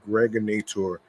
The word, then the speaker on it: Gregonator: This is your man and homie, aka the Gregonator, rhymes with narrator.